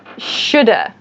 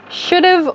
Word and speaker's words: should have: your pronunciation practice so first should have should have reduces so it reduces means it becomes shorter to should have should have or shoulda should've or shoulda i hope you guys